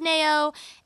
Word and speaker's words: Nao: you know Nao no I'm pretty sure that's how she pronounces it cuz I looked it up in an interview I think it's Nao Nao she came out with